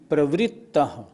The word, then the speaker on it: प्रवृत्तः: इसी तरह ऊपर व्रा नहीं, व्री। प्रवृत्तः।